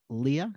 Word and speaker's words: Lia: we pronounced your name Leah Leah M short and sweet l i a sounds like two two first names but it's first and last Leah yes all right